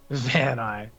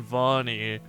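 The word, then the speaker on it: Vaani: cuz we haven't argued about the way to pronounce this yet Von man come on Van ey Vani come get in my van ey little children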